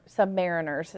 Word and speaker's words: submariners: um submarine and that were sub submariners is how they say it sub Mariners um and so one